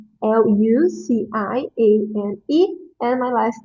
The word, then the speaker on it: Luciane: This Luciane, I know that is a little bit hard to pronounce. So it's Luciane. Luciane.